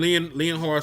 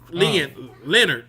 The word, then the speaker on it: Leonhard: were against the Broncos, Jim Leonhard secondary, Leonard. I'm sorry, I keep saying Leonhard.